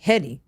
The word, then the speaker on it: Headie One: Okay, Heady, like head.